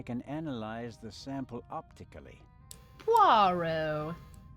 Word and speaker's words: Poirot: Poirot. Poirot. Don't pronounce the T at the end.